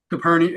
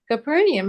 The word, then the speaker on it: Capernaum: Capernium. Either one's correct. I've heard it pronounced both ways. Many ways. Arriving the 1st of April AD25. No longer did he regard Nazareth as his home. Capernium had become the home